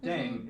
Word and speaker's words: DDAENG: playing with language now pronunciation of deng is similar to thang which is the slang of thing in english last but not least